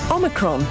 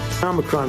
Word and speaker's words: Omicron: How to pronounce Omicron? Omicron. Omicron. Omicron. Omicron. Omicron. Omicron. Omicron. Omicron. Cambridge Dictionary calls it Omicron, but listeners have other ideas.